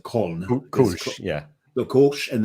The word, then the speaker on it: Köln: So from what I understand, if you're in Cologne and you've got a Kolsch, how the Germans pronounce it, Köln.